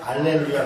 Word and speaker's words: 알렐루야: 원래 발음상으로는 이제 어떤 데는 할렐루야, 어떤 데는 알렐루야 그래요. 그래서 알렐루야는 뭐고, 또 어떤 사람도 놀렐루야 그러는데 알렐루야는 뭐고 할렐루야는 뭐냐 같은 거예요. 우리가 여호와 야훼 역시 발음 차이예요. 근데 아마 발음상으로는 알렐루야 쪽이 조금 더 가까울 거예요.